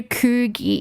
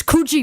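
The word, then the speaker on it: Coogee: asked to go to Ki. He wanted to go to Ki Beach and the bus driver goes, "Uh, it's Kooji, mate."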